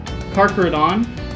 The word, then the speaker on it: Carcharodon: The easiest way to remember its pronunciation is to think of a hard K cut sound, like the word chiropractor. For example, carcharodon, carcareus, pachydiscus, carcharocles, which